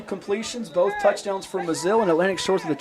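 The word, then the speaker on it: Mazil: No relation because it is spelled differently, though it's pronounced almost identically.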